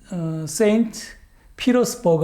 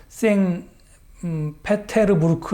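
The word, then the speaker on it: 상트페테르부르크: 겁니다 자 아 다음 그림은 그 러시아에 있는 쌩 피로 스 버그 라고 하는 곳 언어 시아 말라는 쌩 페테르부르크 라고 읽어야 게 뒤 될텐데요 어 그 잎이 os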